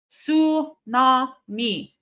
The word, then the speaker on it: tsunami: Tsunami. So it is a tsunami. It's a tsunami. So what the fuck did we need a silent T for?